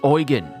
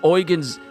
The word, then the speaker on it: Oran: organ his name is oan because oran's cuz the dude from Grand blue fantasy reling name his name is oan and it spelled this way I've been saying his name wrong my apologies it's oan we already